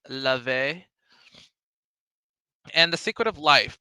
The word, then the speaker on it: Laufey: I think it's Love. I think that's how it's called. I think that's how she pronounces it. It's not Laufey, it's Lave.